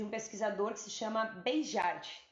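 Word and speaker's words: Béjart: Eu separei uma frase de um pesquisador que se chama Beijart, se escreve Beijart, mas eu fui pesquisar e se fala beijar mesmo, que diz assim: dançar é tão importante para uma criança quanto falar, contar ou aprender geografia.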